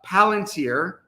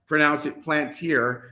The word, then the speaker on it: Palantir: So if I'm in any tech-related stocks and I'm in a couple positions with my small account, I'm in Palantir. I won't pronounce it Plantier because somebody got upset at me because, yes, I called it the peanut company.